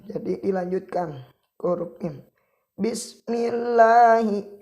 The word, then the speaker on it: بسم الله: Bismillahi, membacanya jangan bismi bismillahi. Nah, itu salah. Membacanya bismillahi.